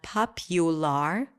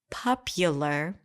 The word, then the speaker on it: popular: computer about conditioned Hospital popular popular not popular popular you're starting to hear